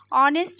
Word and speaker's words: honest: ऑनेस्ट में एच जो है ये साइलेंट है. ठीक है. आप ध्यान रखेंगे एच इसमें क्या है? साइलेंट है ऑनेस्ट में. ठीक है. लिखते एच है लेकिन पढ़ते हम एच नहीं है, पढ़ते ओ से हैं.